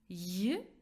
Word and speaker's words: ё: Произносится буква «ё» как «й-о», состоящего из мягкого звука «й» и звука «о».